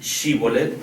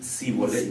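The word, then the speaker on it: Shibboleth: H correctamente Así es en lugar de decir shibolet decían zolet cholet y pues por ahí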